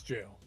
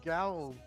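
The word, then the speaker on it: gaol: Also, how do you pronounce this? Jail? Yeah, it's jail. Yeah. What the f- Oh my, we've been calling it Gowl.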